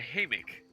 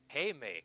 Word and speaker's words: hammock: The hammock. Yeah. Haymak. That's how it's pronounced. No, pronounce that. It's very certainly pronounced hammock.